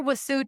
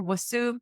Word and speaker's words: Vasu: And I mispronounced your first name. It sounds more like a W. So when I gave your original introduction, it should be Dr. Vasu Tolia.